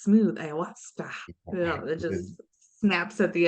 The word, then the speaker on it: ayahuasca: The indigenous tribes, they say ayahuasca. Oh, they say it's smooth, ayahuasca.